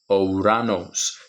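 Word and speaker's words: Ουρανός: each of those, because we are able to pronounce this word using the unique sound of each of these letters. Ouranos. Omicron, Upsilon, Rho, Alpha, Nu, Omicron, Sigma, Ouranos.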